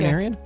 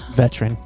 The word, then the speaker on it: veterinarian: veterinarian? You're not supposed to. You say veterinarian, vet. I mean, most people say Veterinarian. who's Yeah. your vet. Yeah. What's the wildest way you've ever heard it pronounced? Veteran.